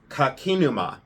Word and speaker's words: Kakinuma: go being distracted so I wrote down the pronunciation of this and this artist is Thomas and it's kakinuma and it's kak Thomas kakinuma and he is